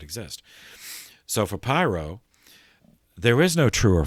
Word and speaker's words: Pyrrho: His name, this guy, was named Pyrrho, Pyrrho. I've also seen it spelled with an N at the end, Pyrrhon.